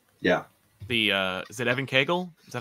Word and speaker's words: Evan Cagle: is those covers yeah the uh is it Evan Kagel is that how I pronounce it yep yep Evan Kagel on the covers um yeah what what was